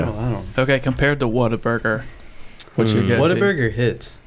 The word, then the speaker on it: Whataburger: Is it Whataburger or Waterburger? Whataburger. Because I hear people say it differently all the time. Those people are wrong. They're wrong. It's Whataburger. You just said Whataburger.